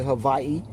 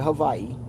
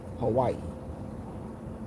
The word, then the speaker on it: Hawaii: of the alphabet the the W in Hawaii is not really a w it's two v's connecting together and they pronounce the pronunciation fori is actually Havi um America started calling